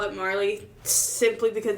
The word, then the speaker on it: Marle: I say Marley cuz it's just M A R L E.